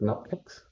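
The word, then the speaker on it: nupkgs: a local folder called nupcakes. Yeah, I like to pronounce it nupcakes because it sounds like cupcakes.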